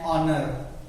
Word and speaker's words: honor: An hour, an honor.